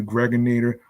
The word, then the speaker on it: Gregator: I'm your man aka the Gregator Rhymes with now or later.